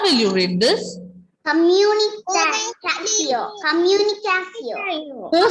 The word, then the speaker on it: communication: Here, when we have letters T-I-O-N together, pronunciation will be C-O.